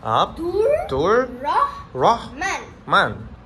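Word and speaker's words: Abdur-Rehman: Wow Mashallah Ibu saya menulis ini, Nama saya Ini nama awak Abdul-Rehman Nama saya Ab-Dur-Reh-Man Mashallah Adakah anda tahu nama saya?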